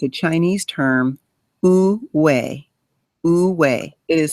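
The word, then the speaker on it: 无为: There is a term, it's a Chinese term, wu wei. Wu wei. It is spelled Woowei.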